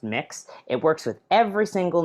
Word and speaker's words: Mx: isn't Mr or Mrs it's spelled MX it's pronounced mix it works with every